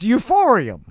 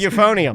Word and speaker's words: euphonium: That's how it's pronounced. Euphorium. Yes, they Okay, everybody's telling me it's pronounced euphonium. Euphonium. Oh, well, maybe properly it might be.